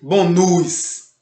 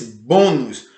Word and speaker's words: bônus: Você não diz bônus. Você não diz bônus. Você diz bônus.